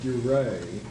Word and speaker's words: Duret: I call it Dure. It's spelled D-U-R-E-T, and the guy was a Parisian. So it seems like to me that Dure would be the correct pronunciation.